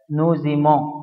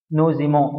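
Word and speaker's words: nous aimons: تحب، ايليم هو يحب، نوزيمون، هنا حرف الاس اتنطقت زد يا شباب عشان بعدها متحرك، نوزيمون نحن نحب، بوزيمي انتم تحبون، ايلو الزم هم يحبون، اتفقنا؟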